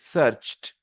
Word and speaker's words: searched: With ch sound, for example, search. Then if you add ed, you will pronounce it searched.